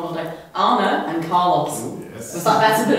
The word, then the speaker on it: Arne: say it right this time because I've been pronouncing it wrong all day Anna and Carlos was that it earlier we've been